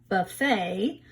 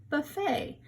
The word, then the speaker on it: buffet: that they spelled it buffet rhymes with bouquet that the bride holds a big bunch of flowers bouquet buffet remember buffet is a